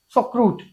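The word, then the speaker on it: Sauerkraut: The major metabolite formed in the succession of microbes responsible for your यार ये pronunciation बहुत खतरनाक था, मैंने लिखा है इसको, it is सॉक्रूट, इट इज सॉक्रूट fermentation.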